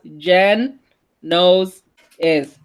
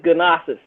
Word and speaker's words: Genosis: Oh, by the way, Genosis said his name is pronounced Jen Knows is Genosis. Oh, yeah. See, Bixby says Gnosis, and that's why you mess it up all the time.